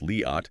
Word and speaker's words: Liat: We're talking about Liat Show, it's pronounced Liat, with a long open vowel.